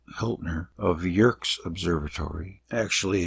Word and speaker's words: Yerkes: W Hiltner of the Yerkes Observatory actually it's Yerkes wikipedia says to pronounce it that way yerkies observatory found that the light from certain stars